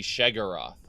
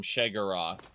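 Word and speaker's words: Sheogorath: thank you all right is that how you pronounce Shale growth according to um according to the more recent voice acting if you want the Morrowind era he shagaroth Morrowind era voice acting calls him shagaroth Oblivion onward calls him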